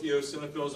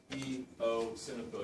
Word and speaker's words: eosinophil: Neutrophils, eosinophils, and basophils. Remember, you pronounce it eosinophil. You pronounce the E, you pronounce the O, and then a eosinophil.